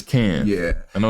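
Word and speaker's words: Cairns: team now right yeah and how do you pronounce y'all's team names camps yeah it's can yeah I know it's just bro how do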